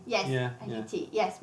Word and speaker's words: Haiti: Haiti? Yes, yeah, Haiti. Yeah. Yes, with obviously you pronounce the H. Yeah, yeah, Haiti, yeah.